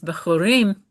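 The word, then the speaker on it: בכורים: Yeah, so because it's Bechorim and the accent is on the last syllable, it's been lengthened so that it's pretonic A new birth.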